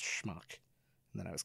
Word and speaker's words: schmuck: telling my daughter that it's not pronounced SMU it's pronounced schmuck and then I was